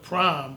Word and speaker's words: PRhyme: and once he said I want to call it prime but spell it PRI a PR hy and me but make the letter P and the letter R capital so that P and